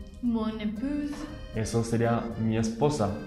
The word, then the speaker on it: épouse: Y mon épouse, Mon épouse. eso sería mi esposa, con una z al final.